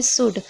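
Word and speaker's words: should: जैसे कि आप देख रहे हैं शुड। शुड में आप देख रहे हैं डी से पहले एल है। तो यहां पर क्या है? एल साइलेंट है।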